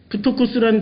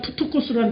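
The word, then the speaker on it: πτωχός: 그러니까 이게 피읍 발음 나요. 그 다음에 티, 똑같은 티예요. 요게 오예요. 다만. 오. 푸토. 이게 X는 이렇게, X는 바로 자음 모음 아니면 코스로 읽죠?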